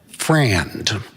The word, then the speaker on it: friend: When spoken as Southern code, it is typically pronounced as a two-syllable word, frand.